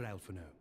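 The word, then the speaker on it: Alphinaud: dude pray do not be so Hasty master alfano foreign that's how you pronounce it full well do I understand your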